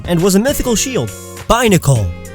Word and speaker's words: Binacle: Binacle, like bicycle or binoculars.